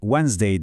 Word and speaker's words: Wednesday: Çoğu öğrencinin hata yaptığı bir kelimedir bu. Wednesday. Ortadaki D harfini var ya onu okumuyoruz. Tamamen sessiz. Sadece Wednesday deyin.